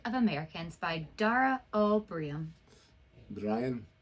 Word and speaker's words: Briain: Brian? No, it's Brian. Brian. Brian? Brian. That's what the comment said. Brian.